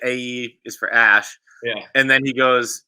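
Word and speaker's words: Æ: Like straight up belly laughing as he explains how A is pronounced Ash.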